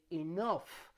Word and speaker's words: enough: word like for example when you have gh at the end of a word and this produces a sound normally that sound is like the letter f like when you say enough like when you say